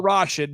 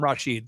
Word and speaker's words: Rashid: wrong yeah he like he liked to be called Rashid but he wouldn't fight you if you called him Rasheed so but how you